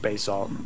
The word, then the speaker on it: basalt: fear for my life you know Bas Sal Basalt it's pronounced Bas salt thank you B balt